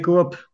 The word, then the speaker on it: Coop: Bon, donc, chez Coop, qui se prononce coop et pas coop. Hein, parce qu'il y en a qui voulaient me faire une chanson en une syllabe Hmm.